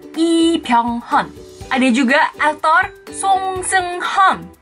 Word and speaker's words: Lee Byung-hun: Dari marganya bukan Lee tapi I. Bukan Byung tapi Byung. Bukan Hun tapi Hon. Jadinya Lee Byung-hun.